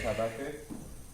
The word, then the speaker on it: Habakkuk: So Habakkuk?